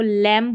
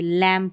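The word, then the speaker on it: lamb: जैसे यहां पर देखिए इसको लैंप नहीं पढ़ेंगे। लैंप पढ़ेंगे। लैंप। ठीक है?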